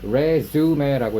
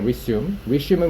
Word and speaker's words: resume: 자, 두 가지 뜻이 있어요. 발음도 달라집니다. 자, 첫 번째, 우리가 방금 읽었을 때 resume라고 읽었죠. resume, 불어식으로 읽은 건데 이거는 이력서라고 해석하고요. resume. 그리고 영어식으로 읽으면 resume이 되거든요. resume은 무슨 뜻이야?